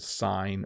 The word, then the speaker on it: sign: of a sound there the g though is silent in the middle of words sometimes right like the word sign or night um those would be two where it's a little more silent uh let's see here